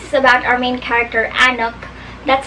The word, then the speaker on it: Anouk: So, Grim Lovelies is about our main character, Anouk. That's how I pronounce her name, A-N-O-U-K.